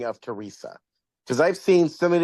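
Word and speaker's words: Therese: Second story, which is Millicent and Teresa. That's how you pronounce it. I was so lost at first. I'm very bad with names. So when I saw that, I thought it was Theresy.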